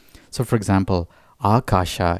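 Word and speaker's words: Ākāśa: So for example, Akasha is pronounced with a long A, so it's doubled, and then there's another long A as well, so it's Akasha.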